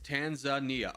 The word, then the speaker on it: Tanzania: It's Tanzania.